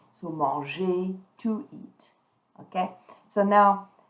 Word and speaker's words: manger: So remember, in last lesson we looked at verb who were ending in ER and that ER was sounding like A. So manger, to eat.